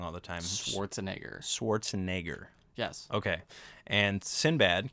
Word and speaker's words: Schwarzenegger: think i say it wrong all the time schwarzenegger schwarzenegger yes okay and sinbad can you say